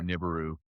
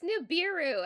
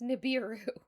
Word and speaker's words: Nibiru: Oh my go being on Nibberu and then coming here to Earth. It's Nibiru. Everyone knows it's pronounced Nibiru and helping and so forth.